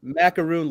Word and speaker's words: McCarron: John Macaroon, like the cookie. That's how you say it.